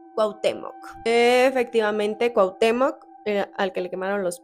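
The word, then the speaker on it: Cuauhtémoc: mejica ustedes me dicen De qué forma se pronuncia cuautemoc efectivamente cuautemoc al que le quemaron los pies Hernán Cortés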